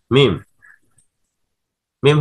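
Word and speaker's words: ميم: দাদুর হাতের লাঠির মতো হচ্ছে মিম। মিম হরফের উচ্চারণের স্থান কি? দুই ঠোঁট একত্রে মিলিয়ে উচ্চারণ করতে হবে মিম মিম।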